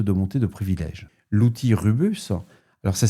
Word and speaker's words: Rubeus: L'outil Rubus, alors ça s'écrit RUBEUS, a permis d'exploiter cette évaluation pour